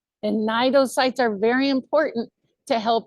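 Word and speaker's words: cnidocytes: It starts with a C but the C is silent in this name. These are called nidosittes. A nido site. And nidocytes are very important to help our jelly capture its food.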